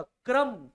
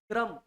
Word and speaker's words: क्रम: अब इसका उच्चारण करो, क्रम, का आधा र पूरा, क्रम, क्र, र पूरा बोल रहे हो, क्रम।